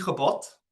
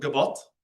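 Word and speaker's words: געבאָט: 10 zijn die gebod. Oh, gebod. I shouldn't make that a fricative.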